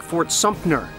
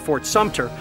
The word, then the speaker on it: Fort Sumter: I also hear people often saying Fort Sumter instead of Fort Sumter, and I've even heard many people mispronounce Robert E.